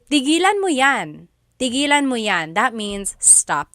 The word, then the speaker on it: tigilan: But if you say, tigilan mo yan, that means stop that. Okay, so again, that glottal stop is important for proper pronunciation because they mean different things otherwise.